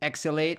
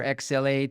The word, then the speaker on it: XL8: Meaning sometimes X can be pronounced as trans so when you read it, trans, L, 8, it's translate, so we are a